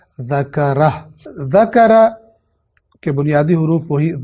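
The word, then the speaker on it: ذكره: تمام ہو رہی ہے، لہٰذا ہو کے پیش کو ضمہ کو پڑھا نہیں جائے گا اور اس لفظ کو اس طرح تلفظ کیا جائے گا فمن شاء ذکرہ.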